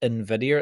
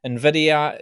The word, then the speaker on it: NVIDIA: So the Magnificent Seven comprises chip maker NVIDIA, and you pronounce that NVIDIA. It's like it's got an invisible eye at the start. NVIDIA, you've got the tech behemoths, Microsoft, Apple, and Amazon.